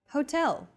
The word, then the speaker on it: hotel: subway fika is next hotel see that in portuguese h as the first letter is always silent except for specific foreign loanwords for a specific hotel